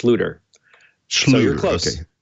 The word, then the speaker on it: Schlueter: here so we're going to bring on welcome to the show thank you thanks for having me um just a start my name is pronounced looter no your clothes Schlueter probably got that over overthinking it a little